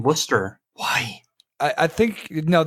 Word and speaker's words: Worcester: from what I'm told everyone that I've met that actually is from that area insists that it's Worcester so it just it